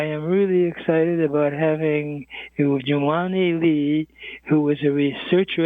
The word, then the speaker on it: Jermani: JERMANI, yes. JERMANI, yes, okay. You are blessed. Your last four letters, JERMANI, rhymes with Lee.